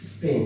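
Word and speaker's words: spring: দেখো সবাই, এটাকে বলতে হবে স্প্রিং, স্প্রিং। আমরা এসটাকে শর্ট ভার্সন উচ্চারণ করবো, এটা এসটাকে প্রনাউন্স করবো shortly, স্প্রিং, স্প্রিং, নট স্প্রিং বাট স্প্রিং, স্প্রিং।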